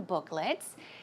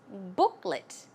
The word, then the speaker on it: booklet: Joanne was talking about these coupon or coupon booklets and the pronunciation is booklet it's not let although it's l t it's